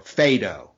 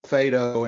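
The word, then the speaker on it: Phaedo: are we going to pronounce the name of this dialogue Pho like the dog or fedo should be fat no fedo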